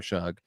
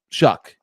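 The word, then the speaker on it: Shough: I want to talk about Tyler Shug. Uh because there are a lot of people they're gonna have to apologize for how they were talking about Tyler Shug. Uh Shuck actually is how we pronounce it.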